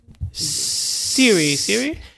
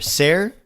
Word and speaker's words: Cere: Siri? It was spelled Cere, but they pronounced it weird, and I couldn't remember. Ser, yeah.